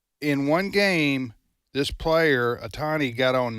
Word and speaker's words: Otani: Did I pronounce his name right? Okay, you did. Otani, and then he also got on base.